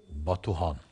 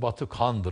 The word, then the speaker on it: Batuhan: Batuhan. Doğru telaffuzu Batıkhan'dır ama İşte öyle alışıldı.